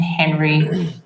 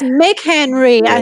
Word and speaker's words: McHenry: brand Bill and then Thompson and Henry I'm saying that wrong uh it is it's okay oh it's McHenry yeah you're saying it right right which that